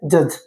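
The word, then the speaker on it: judge: जे यू डी जी ई तो यहां पे भी डी साइलेंट है। जज ई डी जी ई तो ये क्या होता है?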